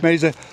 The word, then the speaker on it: Meza: Is that, am I pronouncing it right? Yeah. Meza, who is the regional area director for Folds